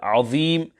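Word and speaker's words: العظيم: Al-maddul arid will also be applicable on the word azim. This must also be sufficiently lengthened to 3 alifs.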